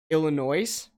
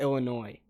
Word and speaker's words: Illinois: But like half the country, it's like when people say Illinois instead of Illinois. Like that's the equivalent. When people in Illinois hear Illinois, they say the same shit, dude.